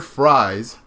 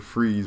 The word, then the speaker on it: Fries: So Mr. Victor Fries, because that's how it's spelled, or Victor Freeze, whatever you guys want to call him, but it's really Victor Fries.